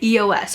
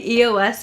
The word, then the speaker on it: EOS: And not until recently, I realized it's EOS. And I still catch myself saying EOS here and there, but I think it is EOS is how you pronounce them.